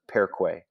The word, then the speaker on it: perque: And I can prove it to you because if you say that word, perque, how many syllables is it? Perque. Right? Two syllables. Per, the E, and then the or the E, right? Per, que. So we're not saying per, que, right? This U is not a syllable or a vowel in and of itself.